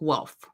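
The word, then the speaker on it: Welf: Now the House of Hanover was a is a offshoot of the house of wealth, which is gu and it's pronounced Wolf.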